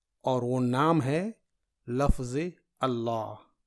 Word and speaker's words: اللہ: وہ نام ہے لفظ اللہ۔ اللہ کے لام کو پر یعنی موٹا اور باریک پڑھنے کا قاعدہ دیکھیے، یہ اسم الجلالہ ہے